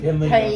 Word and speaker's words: Kenly: North Carolina, Kinley, I believe is how you say it. And that's her name? No, that's the town. Kinley. Oh, Kinley. Kenly.